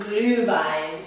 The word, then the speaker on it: Glühwein: Today we are making Glühwein.